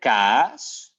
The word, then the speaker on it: kaas: So we have the kaas. You can try to repeat after me. The kaas. You make it very long.